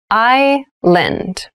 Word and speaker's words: island: many rainforests thailand has many rainforests island island i lend an island is a portion of land or